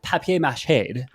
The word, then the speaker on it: papier mâché: But I have papier mâché. Fancy. Nice. That's how it's pronounced, guys.